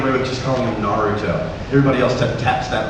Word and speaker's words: Naruto: i could get away with just calling him naruto everybody else taps that r do you like that japanese pronunciation where your r is kind of like